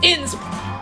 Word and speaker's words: INSP: It's not pronounced INSP. I told you, it's not INSP. It's INSP, with each letter spelled out, with the name spelled out letter by letter.